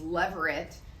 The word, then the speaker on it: levirate: I said it wrong last week. It's levirate, which is the Latin translation of the Hebrew word for brother-in-law.